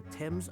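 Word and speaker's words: Thames: seeing a flyer for a restaurant named the t's arms on the way here it's pronounced TS okay okay okay that's where Celeste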